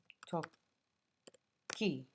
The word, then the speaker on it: tocchi: toccare as the example, we have to listen to the sound the verb makes when we pronounce it. So io tocco, tu tocchi. So here, besides adding the I ending, for second person singular, we need to be consistent with the sound.